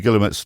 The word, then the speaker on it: Guillemette: So it's called The People's Messenger, The Occupation Diary of Louis Guilmette, Guillemette. Yeah, another very well written diary and quite comprehensive. Yeah. What's the period Louis Guillemette's diary start?